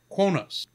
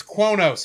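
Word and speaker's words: Qo'noS: got got to the word konos Kronos yeah quos quos quos it's that's right close to Kronos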